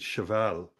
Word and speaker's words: Cheval: today's guest is and I'm not sure if I pronounced your name right you did indeed shal yeah it's like in French it is it is it means a horse in French yeah I love that